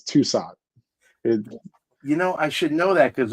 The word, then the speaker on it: Thusat: It's Thusat. Yeah, okay. You got the silent H in there, yeah.